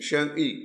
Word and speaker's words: 生意: If you were to spell it in English, what would it be? S-H-E-N-G. Sheng. 生意. Sheng-yi.